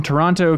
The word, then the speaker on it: Toronto: Daniel from Toronto, Canada says, I wrote in last week about Halloween costumes and Ben mispronouncing the names of Canadian cities.